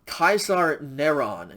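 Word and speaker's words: קיסר נרון: name and title and you write it in hebrew so kaisar nehron is how it would be pronounced and this would add up to 666.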